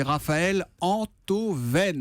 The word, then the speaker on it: Raphaël Enthoven: La première, c'est que je suis ravi d'accueillir Raphaël Antoven, Moins que moi. philosophe. Bonjour Bienvenue Thomas. Raphaël. Merci. Et la deuxième, c'est qu'enfin, on va bien prononcer votre nom. C'est Raphaël Antoven.